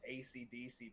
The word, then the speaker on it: Esidisi: Like one guy's name was literally pronounced ACDC, but it wasn't spelled ACDC. I'm sure it was in the. No. Oh. It's spelled like it, in a weird way, but it's pronounced ACDC when you pronounce it out loud.